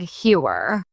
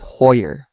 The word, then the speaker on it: Heuer: I've heard people say Tag Heuer as Tag Heuer. The brand insists it's Heuer, reflecting German roots.